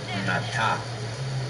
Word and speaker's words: Nata: of the Aztec story, Nata, pronounced with the broad sound of ah, is not far from the name of Noah or Noé.